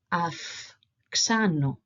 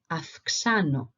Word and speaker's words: αυξάνω: So A and E and E and E, when are together and are before this group of consonants here, they make the sound AF and F respectively. So if we were to pronounce these words that I have here in the examples underneath, they would sound like this.